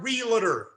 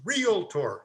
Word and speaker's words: realtor: by a mile realtor the word is not realtor it's realtor now we all know that in here but